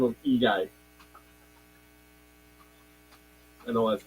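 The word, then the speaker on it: Eguy: a name dude how do you name him e guy I know that's how you say it so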